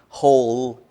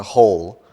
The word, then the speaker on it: whole: ear right okay but the pronunciation is whole family whole family like yeah you know like a space in the ground is a hole the pronunciation of a